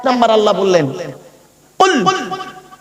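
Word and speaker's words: قُلْ: 1 number আল্লাহ বললেন কুল। কি বললাম বাবা? একটু উচ্চারণটা করুন।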